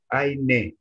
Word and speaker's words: eine: Eine. I want to hear. For D, always pronounce the last E, okay?